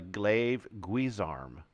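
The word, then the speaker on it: glaive-guisarme: go the glaive guzarm I always said this wrong this is a glaive guise arm glaze arm two e's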